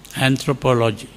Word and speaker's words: anthropology: So we don't say anthropology, we say anthropology. That is the proper pronunciation of that. anthropology. Like psychology is pronounced as psychology. In the same way, anthropology is pronounced as anthropology. That is the British way of pronouncing. So the important thing is